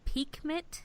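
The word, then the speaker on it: Pixmit: we also find out the cards are called peek MIT but it's spelled p IX MIT on the close captioning so G keeps talking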